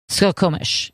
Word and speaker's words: Skokomish: salmon crossing how do you say that skokamish skokomish skokomish yeah river flood brings brings salmon to the